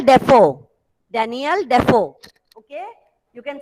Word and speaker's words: Defoe: Prathamesh, Delphine Deso. Daniel Defoe. The pronunciation is Daniel Defoe.